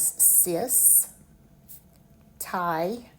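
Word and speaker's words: cystitis: So when you run that word together, you pronounce it as cis titus.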